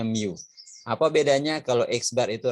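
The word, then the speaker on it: μ: juga yang simbolnya Miu yang seperti huruf u ini bacanya Miu Apa bedanya kalau eksbar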